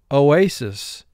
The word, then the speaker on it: oasis: Beginning with row 1, oasis. Oasis, the group came to an oasis in the desert. O-A-S-I-S. First syllable O, second syllable A, final syllable SIS, three sounds.